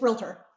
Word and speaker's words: realtor: Now, is it pronounced realtor or realtor? It's realtor.